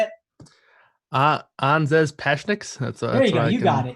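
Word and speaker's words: Anžejs Pasečņiks: Pashanek. You say the name, Kyle. How do you say it? Anzes Pashniks.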